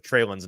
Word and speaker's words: Treylon: We have all gotten fast and loose with our pronunciation of Treylon's name. It is in fact Treylon, not Treylon.